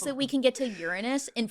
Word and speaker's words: Uranus: And now Elon thinks that we can get to Uranus in 4 hours with his new light speed technology that he's creating.